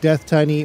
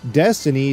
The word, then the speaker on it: Deathtiny: katsui destiny he's kizunajikokutachi no not death tiny or death tinny but destiny due to ambiguous japanese pronunciations and their love for linguistic jokes and puns was released to the